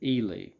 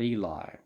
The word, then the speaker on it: Ely: with ely parker and he pronounces it ely not eli uh he leader rhyme with freely e-l-i is eli he he spells his e-l-y but at about age